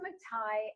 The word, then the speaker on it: McTighe: I didn't realize how to pronounce it until I met someone with the same last name. Wiggins and McTighe, Understanding by Design.